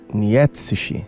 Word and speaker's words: Nietzsche: Eu não sei dizer porque sentimos conforto em falar Freud, que tá mais perto da pronúncia do nome do pai da psicanálise em alemão, e talvez desconfortante falar Nietsishi.